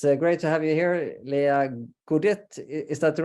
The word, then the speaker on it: Lea Goodett: But it's great to have you here, Lea Goodett. Is that the right pronunciation? Goodett. Yes, it's Lea Goodett in the Netherlands. Lea Goodett.